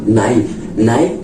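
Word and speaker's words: knight: रहे हैं ठीक है नाइट में भी आपको देखिए कैसे पहले एन से पहले के तो उसी तरह क्योंकि रूल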